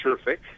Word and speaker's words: Sherfick: who you are uh my name is sherick s rfic um I think you mispronounced it slightly that's okay oh sorry about